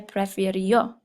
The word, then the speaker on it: prefirió: Ella prefirió. I was putting the accent on the wrong sound for that.